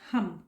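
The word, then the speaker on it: हं: Throat चक्र का हम, HUM या HAM। ओके, प्रोनाउंस करना है हम।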